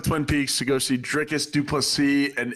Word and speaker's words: Dricus Du Plessis: Yeah, go down to Twin Peaks to go see Dricus Du Plessis and Israel Adesanya scrapping it out at UFC 305.